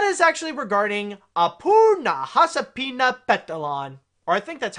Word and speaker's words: Nahasapeemapetilon: subject and that is actually regarding a poor Nahasapeemapetilon or I think that's how you say your that's how you say your NIT and say say his name right that's how you say it appoo Nahasapeemapetilon okay yeah I got it I got it